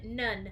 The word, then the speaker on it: none: or write it down the one at the end we don't hear it e nun say the word